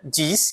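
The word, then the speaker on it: dix: E aqui a gente tem dis, né? Diz, que é o número 10, tá? Diz. Eu vou pronunciar o X no final.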